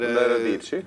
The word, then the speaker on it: Radici: Dette Radici. Radici, det står liksom Radit. Det Radici, uttales.